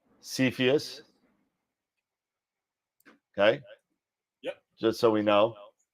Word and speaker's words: Cepheus: and click here there you go so it's pronounced cepheus okay just so we know and moving forward